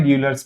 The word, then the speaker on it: Euler: Modified Euler's method. The original pronunciation is Euler, but we call it as Euler's, right?